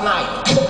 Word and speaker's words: knife: Yes, that would be knife. Knife. This is what she told me in front of the whole class. She said the K is silent.